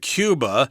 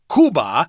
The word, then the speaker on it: Cuba: that means anything from cuba cuba in spanish is called kuba but in English we say Cuba so if you're talking